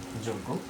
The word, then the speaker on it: যোগ্য: ঠিক আছে, এরপর দেখো আমি যখন লিখব যোগ্য, তাহলে উচ্চারণটা কি হবে? যোগ গো, এই যে গয়ের আনুনাসিক উচ্চারণ যোগ্য।